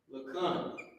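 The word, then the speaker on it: לכן: Lakan. Lakan, therefore. This is the actual root word, the actual, I don't know if it's F-O-R-E. It's pronounced lakan.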